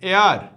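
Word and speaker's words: heir: হচ্ছে চুল আর এই যে হেয়ার এটা একচুয় উচ্চারণ হবে এয়ার এয়ার মানে হচছে উত্তরাধিকারী আকবর ছিল হুমায়ুনের কি উত্তরাধিকারী তাহলে এয়ার এইচই আই আর এয়ার এটা হবে ঠিক আছে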